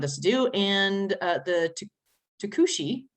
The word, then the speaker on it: Tucuxi: And the Tucuxi, right? That's how it's said, right? It's Tucuxi.